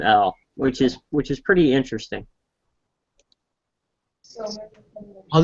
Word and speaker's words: El: They won't say that, but in the text, the scriptures, they do pronounce it as El. The actual name El, which is pretty interesting.